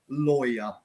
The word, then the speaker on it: lawyer: I think the reason this is very difficult to pronounce in English for lots of students is because the noun law is kind of with the W, but lawyer, you miss out the W.